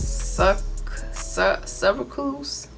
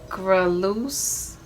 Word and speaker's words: sucralose: tea okay so i sell how do you pronounce it suck cervicals so let me pull this up i ain't never been able to say it right but that's all right sucralose sucker loose s-u-c-r-a-l-o-s-e okay that's it's clear oh here i